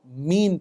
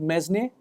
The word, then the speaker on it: mesne: slightly tricky concept of mean profits okay it's spelled MSN profits it's not mesn it's mean profits okay so what are